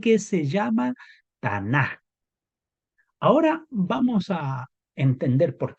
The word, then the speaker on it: Tanakh: Ahora, esta expresión Tanaj, que termina en K, pero su pronunciación cuando es como última letra tiene un sonido como de J, pero se escribe Tanakh,